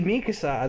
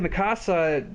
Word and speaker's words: Mikasa: armen's voice actor said it's absolutely Mikasa the people who are saying masasa that just doesn't make any sense oh that would be